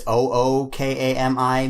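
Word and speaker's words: 狼: So like, I think it's Ookami means wolf, and then Okami means God.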